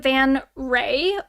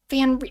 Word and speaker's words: van Ree: ex's name was Tacia Van Ree or or Vanri. It's like I think it's pronounced Ray, but it's spelled like re.